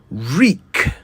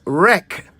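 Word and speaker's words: wreak: us to today's word reek w e a k reek many people pronounce it as wreck but that is an entirely different word with an entirely different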